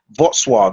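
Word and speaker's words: Wrocław: Kov or Warsaw this is a place called Votswave it's spelled Rogclaw but it's pronounced Vwave cuz I've asked some Polish people going to be okay out there.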